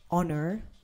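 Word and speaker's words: honour: of a word except for an example like honor h-o-n-o-u-r that's an example or honest h-o-n-e-s-t the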